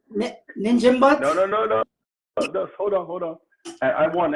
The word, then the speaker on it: Njinimbot: Okay, so the N is silent. Yes. Jimbot? No, it's Njinimbot. Njinimbot.